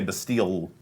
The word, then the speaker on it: Bastille: You pronounce it wrong too. It's definitely Bastille, but we our English and our French accents are appalling, so we just kind of Gave up.